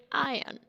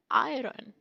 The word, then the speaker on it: iron: pronouncing it always wrong this word is iron that is iron and mostly people say it iron Ming you pronounce r that is totally wrong iron that is iron